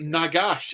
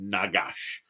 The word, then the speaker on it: Nagash: Ghoul Slayer and heard the pronunciation of Gotrek saying Nagash to rhyme with Fagash.